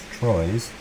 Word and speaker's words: Troyes: wasn't going to have my library done in Troyes, as it turns out. That's how it's pronounced, Troyes.